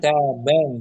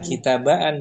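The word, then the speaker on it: كتابًا: Ustaz kitaban tuh. Jangan kitabaan dibaca daftaran baitan alif kan.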